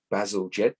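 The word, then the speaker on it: Bazalgette: any other victorian official there you go joseph basil jet that's how you pronounce it and uh an engineer of his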